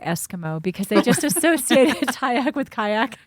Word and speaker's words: Tyacke: Yes, that's Tyack, and it's spelled Tyacke.